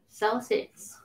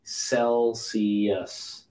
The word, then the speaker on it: Celsius: It's not Kel. It's not K. Celsius. Okay. Celsius. Soft C. Celsius.